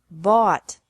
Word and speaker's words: bought: bring brought brought by bought bought catch caught caught fight fought fought seek sought sought teach taught taught think thought thought remember that the G is silent in these verbs verbs with three different